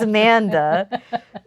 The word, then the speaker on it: Amanda: mother pointed out that I kept saying the designer's name wrong even though I knew what it was, but I just kept saying Amy. It's not Amy, it's Amanda.